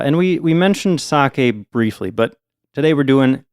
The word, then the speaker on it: sake: topic of our episode I believe it's pronounced sake oh okay I get it um yeah yeah we're talking about sake not sake not saki sake saki Bob now